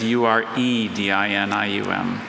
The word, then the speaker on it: uredinium: I'm sorry, uridinium is Uredinium.